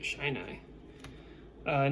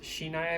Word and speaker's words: Shinai: I saw someone in the last video comment. It's pronounced Shinai, I believe. It's just going to be habit for me saying Shine Eye, but sorry.